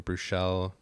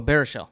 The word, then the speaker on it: Baruchel: I can't ever pronounce his last name. Bruchel. Oh, Baruchel.